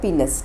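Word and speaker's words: penis: हैं follows bye डी पेनिस ठीक है इसको पेनिस प्रोनाउंस नहीं करते हैं पीनस प्रोनाउंस करते हैं ठीक है तो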